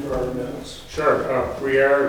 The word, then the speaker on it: Brière: Brière, it's spelled b r i e r r e.